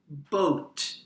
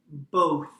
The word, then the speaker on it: both: not pronounce it properly I have heard Chinese students say boat boat this is not correct the correct pronunciation is both both in this lesson